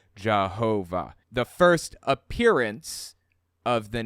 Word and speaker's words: Jehovah: and eventually you know y's pronounced like J's W's pronounced like V's it became it morphed from yahovah to Jehovah the first appearance of